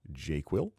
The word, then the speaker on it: JQL: This mainly only shows up in JQL, Jira Query Language, or if you're pronouncing it properly, JQuil, but it allows you to quickly sort work items.